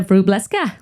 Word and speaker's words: Wróblewska: director of AI product at comark so Maria bresa I hope I pronounced your name correctly welcome to let's talk